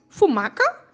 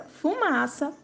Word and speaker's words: fumaça: Sem o C cedilha, como ficaria a pronúncia das palavras? Leia. Acougue, carroca, fumaca, pacoca. Agora leia corretamente. Açougue, carroça, fumaça, paçoca.